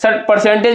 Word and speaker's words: percentage: परसेंटेज को हमने क्या बोला है, PERCENTAGE परसेंटेज, यानी 1 2 परसेंटेज में टोटल नंबर ऑफ सिलेबल कितना है, 3 सिलेबल है। और इसमें जो है कि हमारा स्ट्रेस कहाँ लग रहा है, CENT पर।